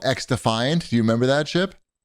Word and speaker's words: XDefiant: get you there it's it's not cross defiant or any it's it's pronounced X defiant I think I've never heard